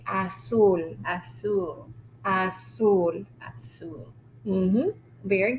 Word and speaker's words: azul: So the sound is S even for the letter Z.